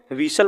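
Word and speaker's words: whistle: और टी जो है यहां पर विसल पढ़ते हैं इसके विस्टल नहीं पढ़ते इसको बोलते हैं विसल विसल विसल का मतलब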